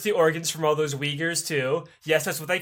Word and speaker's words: Uyghur: There's no I in Uyghur. It's Uyghur. That's how you say it.